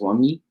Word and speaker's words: Wunmi: I did like I believe her name is pronounced Wunmi.